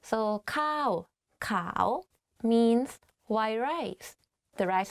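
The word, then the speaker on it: ข้าวขาว: ข ้ า ว ข า ว white rice. One is like higher than another. So ข ้ า ว ข า ว means white rice.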